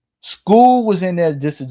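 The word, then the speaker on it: Scull: of Canelo versus William School is I just learned that's how you pronounce his name. It's not Skull, it's School. School was in there just to survive.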